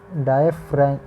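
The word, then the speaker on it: diaphragm: अब rib cage में जो मसल की शीट है उसे डायफ्राग्राम कहते हैं। इसका प्रोनाउंसिएशन होगा डायफ्रैम।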